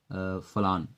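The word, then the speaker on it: forlorn: Next word आपका है फलान। यहाँ आर साइलेंट है, फलान।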